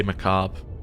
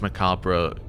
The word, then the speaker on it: macabre: Americans say macabre. Um British, it's macabre. French, it's said differently.